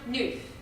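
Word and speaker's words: neuf: card it means nine it's pronounced news it's also a card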